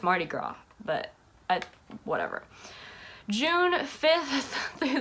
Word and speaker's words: Mardi Gras: the 7th is the Mardi Gras. Why do I always say that? I always pronounce Mardi Gras with the S. And I know that's not how you say it. I know it's Mardi Gras, but whatever.